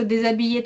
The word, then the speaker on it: déshabiller: C'est un seul verbe, dé. Vous voyez, donc, et, vous entendez déjà et. Déshabiller. Donc, et on entend le z parce que c'est devant comme deux voyelles, comme le H, on ne prononce pas.